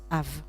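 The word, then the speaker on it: אב: se prononce m et notre père s'appelle se prononce av donc là on va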